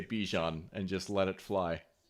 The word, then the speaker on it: Bijan: It is very hard to say Bijan for 3 years and then, oh, guys, it's Bijan now. So I'm going to take that as the green light to say Bijan and just let it fly.